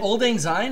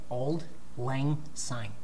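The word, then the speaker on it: Auld Lang Syne: Is it Old Ang Syne? Is that the name of the New Year's song? Old Ang Syne. Yeah. Yeah, they play that. How do you pronounce it? Old Lang Syne.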